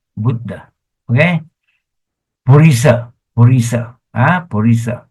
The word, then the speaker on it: Buddha: Don't say Buddha. Buddha. No. Wrong. Say Buddha. Bu is short. Budda.